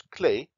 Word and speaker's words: clef: The French pronounced it as clé, as they still do, but in those days they wrote it as clef, and that is the word we still use to anchor staves.